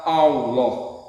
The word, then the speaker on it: Allah: Lalu huruf lam yang pertama diidhamkan pada lam yang kedua sehingga menjadi satu lam yang ditasdid. Lalu lam yang kedua dibaca tebal sehingga dibaca Allah.